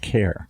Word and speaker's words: Ware: R E, and it rhymes with Karen, so you know, that that when you go and Google things, that's you know, my last name. rhyme with Karen, but it rhymes with care. Care. Care. Yeah, sorry.